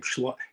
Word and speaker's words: Skolimowski: It's the name of a donkey, and it's a Polish film directed by Jerzy, I can never say his name, Skolimowski.